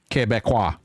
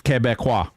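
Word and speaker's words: Québécois: Quebecois. Nuh-uh. It's Quebecois. Quebecois. Quebecois. Mm-hmm. That's how you say it.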